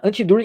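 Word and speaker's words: Anti-Dühring: não me engano, chama Anti-Düring. Né? Anti-Düring numa pronúncia em inglês, Anti-Düring, numa pronúncia, no máximo que eu consigo aí, de uma pronúncia alemã.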